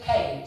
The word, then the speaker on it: Keynes: I know it's spelled Ke K E Y S. But here in the village, we all prefer to pronounce it Kades.